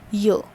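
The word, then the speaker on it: yeux: okay y e u x and it is pronounced as yo okay so this y which is known as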